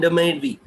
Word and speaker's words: DMADV: So it's like the make, Demek and Demedvi. So these are the two, the way they pronounce it basically.